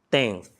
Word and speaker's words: tenth: A gente tenta ali algo muito próximo do F, no caso do décimo.